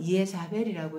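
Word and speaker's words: Ἰεζάβελ: 헬라어로는 이에자벨이라고 읽어요.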